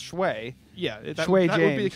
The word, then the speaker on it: Schwae: Well, it's Shway. Yeah, that Shway would James. be the correct pronunciation for how it's spelled.